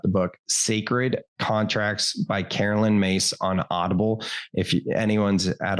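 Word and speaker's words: Caroline Myss: for more information uh what's her name uh Carolyn mace it's uh spell it's spelled Carolyn and it's spelled Miss I can get you the information but it's pronounced Carolyn mace that's her name she wrote a book called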